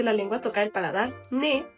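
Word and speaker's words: ね: pronunciamos de es decir en estas letras la lengua solamente toca la puntita al paladar d mientras que en la Ne se recarga Ne el primer trazo igual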